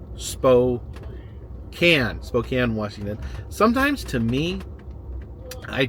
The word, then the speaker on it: Spokane: am getting is right now is that I mispronounced Spokane, Washington. I think I called it Spokane, Washington, and this is it's very common for